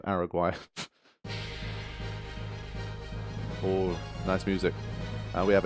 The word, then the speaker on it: Araguay: I pronounce it as like Paraguay. So, Araguay.